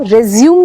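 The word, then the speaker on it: résumé: यू रिज्यूम्ड your work. But CV का जो equivalent होता है वो रिज्यूम नहीं होता है, स्पेलिंग वही होती है, मगर the correct pronunciation is रेज्यूमे।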